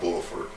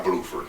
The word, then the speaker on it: Bluford: 16 years later God Buford Bluford I'm sorry guy Bluford I ain't pronouncing guy